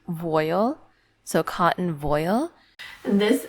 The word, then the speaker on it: voile: A cursory Google search has revealed that it's actually pronounced voile, so cotton voile.